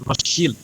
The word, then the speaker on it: Rothschild: Jadi waktu itu Zionisme mengandalkan proyek-proyek Rothschild ya, bacanya sebenarnya yang benar katanya Rothschild ya, karena SCHILD itu bukan child tapi bicara adalah shield dari bahasa Jerman kuno yang artinya ya shield kalau kita sekarang bahasa Inggris itu tameng.